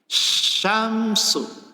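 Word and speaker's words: شَمْس: Syamsu, kalau belajar makharijul huruf, sya itu dari lidah tengah, wasatal lisan, syamsu.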